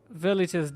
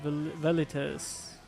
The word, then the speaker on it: Velites: Velites. Probably it's pronounced Velites, actually.